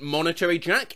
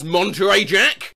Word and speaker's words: Monterey Jack: farmer john cheese guys the cheese isn't monetary jack it's monterey jack i've been pronouncing it